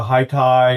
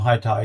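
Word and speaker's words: HiTi: Uh they're Hi Thai or Hi. It depends on who you listen to. Uh I pronounce them high tai because it's hi ti.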